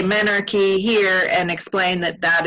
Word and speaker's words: menarche: I say Menarche. Menarche. Which is sort of the American English version, I think, but I could be wrong.